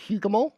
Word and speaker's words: Hougoumont: I believe pronounced Hougoumont. Is that correct? Because obviously, Hougoumont it is.